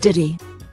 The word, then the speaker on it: Diddy: D and wires Island have you never heard of silent letters after a blank look from Gordon Diddy continued we're just saying it Diddy we're not saying it